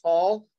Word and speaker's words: Tall: It's pronounced tall, like Paul with a T.